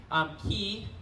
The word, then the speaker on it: ki: Ki being the Japanese pronunciation of Chi, so Rei being heaven, so it's the heavenly Chi.